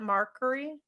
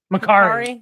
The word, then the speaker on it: Macari: How did you say that? Markery? Ma- Macari. Macari.